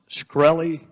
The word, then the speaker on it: Shkreli: chairman is it pronounced shkreli yes sir see there you can't answer some